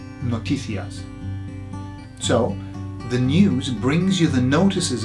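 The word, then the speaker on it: noticias: news in Spanish is notias or notias okay notias or notias depend on how you want to pronounce it and so it sounds like notices doesn't it notias so the news brings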